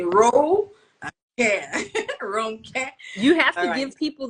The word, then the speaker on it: Ronke: well um it shows intention someone wants to pronounce your name the right way so I always say Ro WR care you have to give people those little like